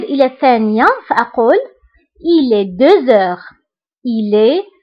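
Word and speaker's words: deux heures: هنا نطقت لا لتر زد مع أنها ما كايناش. pourquoi؟ باسكو عندي h. باسكو عندي لا لتر x كتبعها h. دونك كندير لا ليزون وكنقرا 2 heures. 2 heures. d'accord. كنطق لا لتر زد مع أنها ما مكتوباش باسكو درنا لا ليزون.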